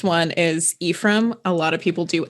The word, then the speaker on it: Ephraim: And then our mispronounced one is Ephraim. A lot of people do Ephraim because that's a kind of a common not common boys name, but it's a name.